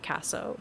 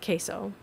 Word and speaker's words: queso: Not Casso. Queso. And I thought I was nailing the pronunciation when you came in too. I was like Casio or something.